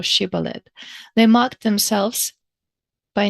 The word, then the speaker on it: shibboleth: He writes that strangers gave away their difference by being indifferent to the diacritical distinction between she and si in the pronunciation of this word, sibolet or shibboleth.